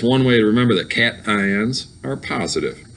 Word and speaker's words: cation: get eight okay um cation i do always like to point out this is pronounced cation not casion it's cat ion a cation is a